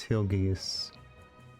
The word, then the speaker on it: Hill Gigas: pronounce their names cuz is it like gigus like giant gigantic uh hu gasu is uh so it is Hil gas okay I feel like